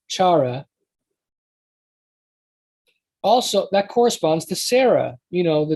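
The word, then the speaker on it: שרה: the sound of eh, and eventually it progresses to ah, because the Jews pronounce it as ah.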